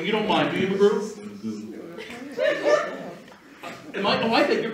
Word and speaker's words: Magoo: I'm sorry. So is going to try something with, I beg your pardon? Magoo.